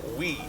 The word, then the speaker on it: wi: word it's w I it's pronounced we and to to put